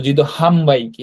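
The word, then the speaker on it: 自動販売機: তো জিদো হাম মূলত এই নয়ের উচ্চারণটা ময়ের মতো হয় অ্যাকচুয়ালি। তো জিদো হাম বাইকি, হ্যাঁ, জিদো হাম বাইকি মানে মূলত ভেন্ডিং মেশিন, হ্যাঁ।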